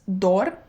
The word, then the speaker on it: dor: If you want to know what the word is in Romanian, it is dor. That's how you say it.